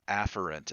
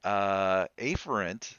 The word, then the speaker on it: afferent: Technically, the pronunciation of those words should be afferent and efferent, but that's so close together, I